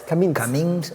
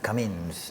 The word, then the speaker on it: Camins: Camins del Priorat. Camins. It's a Catalanish language. Okay. It's like caminos en español, no? Camins in Catalan.